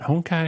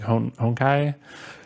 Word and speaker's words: Honkai: like how do you how do you pronounce this like is it Hong Kai is it honkai or and I just kind of read it like it's like a Japanese word so you'd pronounce it like honkai and the reason I